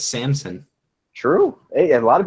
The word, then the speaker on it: Samson: Now people won't mispronounce his name because it's not Samson; it's Samson. True. Hey, a lot of people did say Sampson.